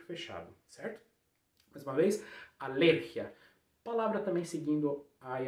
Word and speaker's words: alergia: Como é que você vai falar alergia em espanhol corretamente? Alergia, segunda sílaba forte. Alergia, fechando E, não é alergia, como a gente viu no teléfono, é teléfono, aqui também é a mesma coisa.